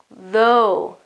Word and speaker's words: though: Though, and the sound after the th sound, in this case it is quite narrow, through, okay, it's quite closed, and in this other case it is open, though.